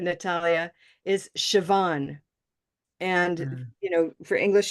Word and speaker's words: Siobhan: you'll have to unmute sioban yep sioban so this name as much as it looks like what you said Natalia is sioban and you know for